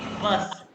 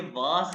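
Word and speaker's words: was: उसके बाद है अच्छा वस। वस ये वास नहीं है, ये वस है। वस में व्हाट, क्या।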